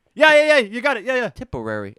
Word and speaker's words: Tipperary: Tipperary. It sounds like a mixture of typical and Contrary.